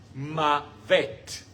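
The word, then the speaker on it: מוות: Se dice mavet.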